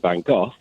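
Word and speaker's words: Van Gogh: got three syllables uh whereas van go go go just sounds wrong doesn't it a fantastic artist Goff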